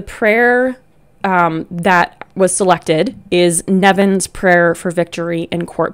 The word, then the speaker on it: Nemain: or English speaking audience, this might look like Nemain. And I am, you know, probably the farthest person from the language police or the pronunciation police, but I'm pretty sure that that is pronounced Nevin.